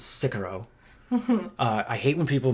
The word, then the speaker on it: Sicario: First of all, it's not Sicario, it's Sicario. I hate when people mispronounce it.